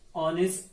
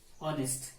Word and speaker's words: honest: the sound is vowel second he is an honest student honest actually silent it's honest student dr mirza is